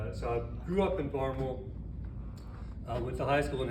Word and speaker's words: Barnwell: quick pronunciation guide because it looks like it's pronounced Barnwell, but I'm going to be saying Barnwell all the time, so I want you to know what I'm saying.